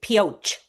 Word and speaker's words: Pioche: I did look up, you pronounce it Pioche. Okay, thank you. Even though it comes from French, meaning something like pickaxe, they don't use the French like a brioche kind of thing.